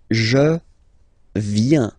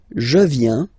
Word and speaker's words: viens: So the first form is je viens, je viens, okay? Remember this I, viens, viens, and then this nasal final S not pronounced.